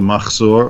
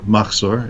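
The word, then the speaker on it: מחזור: we use something called a Machzor or Machzor in the Ashkenazi pronunciation.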